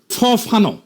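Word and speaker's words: Fanon: ফরাসি আলজেরিয়ান চিন্তাবিদ ফানো নাম আসল উচ্চারণটা, উনি বলছিলেন, পরাধীন জাতিগোষ্ঠী লড়াইয়ের ভিতর দিয়ে নিজেকে চিনতে শেখে।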